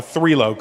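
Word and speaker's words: Trilok: But it's pronounced three.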